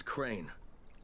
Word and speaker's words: Crane: No, my name's Crane. Crane? Crane rhymes with train and brain and sane.